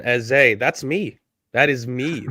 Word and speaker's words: Eze: TNT's commentator saying Eza rather than Eze.